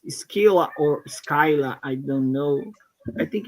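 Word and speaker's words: Scylla: Skyla is the second one. Skila is the first one. Am I right? Yes, you're right. Skyla DB. I don't know why. Um, I don't know why. Google is pronounced as Skyla.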